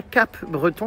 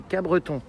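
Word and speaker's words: Capbreton: à alors apparemment dit j'ai appris qu'on disait pas Cape Breton mais Cabreton Creton c'est ça Cabreton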